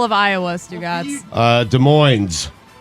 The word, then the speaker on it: Des Moines: of us went to college how do you pronounce the capital of iowa stu gods uh des moines des moines illinois chinny chin chin what i wrote that